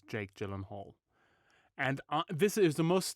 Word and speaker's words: Gyllenhaal: And it's actually how you pronounce his surname. Gyllenhaal.